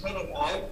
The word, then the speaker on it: Hanning: I think I hear you saying Hanning. It's Hanning.